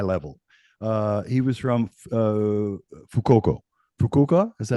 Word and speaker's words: Fukuoka: Fukuoka, is that how you Yes, pronounce it? yeah, Um, Fukuoka, yeah.